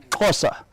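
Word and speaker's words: Xhosa: So you don't also, if you look at it, the way it's spelled is X H O S A. You don't say, you says. The first two letter and the sound are combined. So it's cos and then the the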